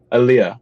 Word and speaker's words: Aaliyah: album called alia i'll how do i pronounce him here i think she's like aaliyah it's the annunciation is on the e okay aaliyah right for an album called